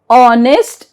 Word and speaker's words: honest: Sometimes word starts with a silent H. Example, honor, our, honest and air.